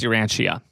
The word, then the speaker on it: Urantia: I don't know if that's how it's pronounced your Antia. I'm pretty sure it's your Ancia.